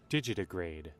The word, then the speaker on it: digitigrade: Need to hear what the proper pronunciation of this word is. Digitigrade.